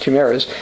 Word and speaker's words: chimeras: Such mixed species embryos are known as chimeras, or chimeras, chimeras as I would say from Michigan, but it's actually pronounced chimeras, named for the fire-breathing